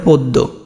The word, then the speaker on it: পদ্ম: তারপরে পদ্ম, পদ্ম, তাহলে পদ্ম দয় ম আছে, এখানে দয় ম থাকলে মটা দয়ের সাথে আছে, দটা কয়বার হবে, দুইবার।